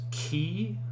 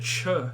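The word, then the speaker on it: chi: is that f noise this is key key right it looks like an x but it is that's ch now it's not that cha noise it's not cha it is k right like lock and you might get a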